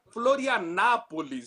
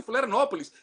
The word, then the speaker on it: Florianópolis: Os argentinos insistem em falar Florianápolis, em vez de Florianópolis. E o pior de tudo, quando você é o cara com a camiseta estive em Florianópolis, com O, e os caras insistem em dizer com A.